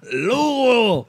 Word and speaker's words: Louisville: No, that should be called Louisville. Yeah. Louisville. If you don't pronounce it right, yeah, I've heard this.